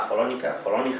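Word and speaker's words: Follonica: me demanden, en un sitio que se llama Folónica, como se pronuncia en toscano, que es como el Benidorm local, ¿no?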